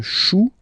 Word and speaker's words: chou: Then un chou. Okay, remember, when you combine this C and H, you get the sound sh, sh, sh.